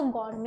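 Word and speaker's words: gourmet: इसीलिए उस आइसक्रीम का जो नाम था वो गौरमे है। उस आइसक्रीम का जो नाम है वो गौरमे है। नेट पे सर्च भी करोगे ना गौरमे आइसक्रीम, इसमें टी साइलेंट रहता है।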